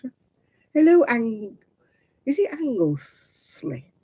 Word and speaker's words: Anglesey: hello and you see angles slay angle sleigh or angle sly not sure how you pronounce that I want to say angleseed because that's like where in Wales isn't it that's what I want to say angles me forgive me of admiral angles Anglesey yeah not angle sly we